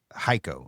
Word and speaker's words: Hico: We're actually by, do you pronounce it Hico? It's Hico.